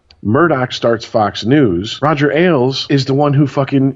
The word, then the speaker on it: Ailes: Ailes. Roger like multiple yes. Ailes. Roger Ailes. Like more than one beer.